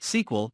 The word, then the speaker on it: SQL: before them for example sql is pronounced sql and hence we write it as a sequel not and sequel you